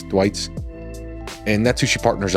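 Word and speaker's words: Thwaites: It's T H W AI Tes. So Thuait. Thwits.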